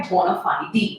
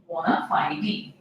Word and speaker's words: bona fide: इसको आप बोनाफाइड भी बोलते हैं, but original it इज बोनाफाइडी। दोनों ही प्रोनाउंसिएशन करेक्ट है guys, so यू कैन use whatever you feel comfortable in. This is again a Latin word और इसका मतलब है